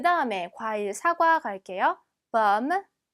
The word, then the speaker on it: pomme: pomme, pomme. 얘도 마찬가지로 오지만 마치 어처럼 발음이 납니다.